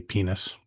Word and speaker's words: Pinus: I did read Real- somewhere Pinus is not like how Romans would have pronounced it. mhm. It should be How would they have pronounced it, Ken? should be penis Okay.